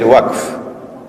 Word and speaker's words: waqf: Notice I said waqf, 1 syllable. That's the correct pronunciation, okay?